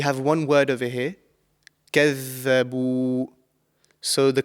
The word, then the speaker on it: كَذَّبُوا: So كَذَّبُوا. And often this is, mispronounced with za, the letter za. So it's not kazza, it's كَذَّبُوا. This is the correct pronunciation.